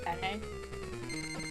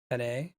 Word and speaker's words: penne: I think in Italian you pronounce all of the letters. So if there's an E at the end, I think you say penne.